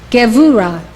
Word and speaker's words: Gevurah: This is how they are pronounced. These 9 Sefirot emanate from Keter. Chokhmah, wisdom. Binah, understanding. Chesed, love. Gevurah, power.